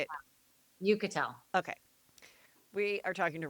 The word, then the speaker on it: Uchitel: It's Uchitel. It's like Okay. you can Rachel Uchitel. Uchitel. Is that how I say it? Say it one more time. You just say it. Uchitel.